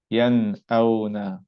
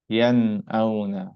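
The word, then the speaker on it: ينأون: So what happens to this noon? We're going to make no change to it. We're going to make it normal. We're going to pronounce it normal as we always do.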